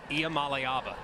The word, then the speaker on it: Iamaleava: And can you pronounce Nico's name for me again? Nico Iamaleava.